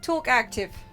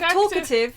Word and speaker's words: talkative: Talk active. Oh yeah, Like instead of talkative, you I used said to say talk active.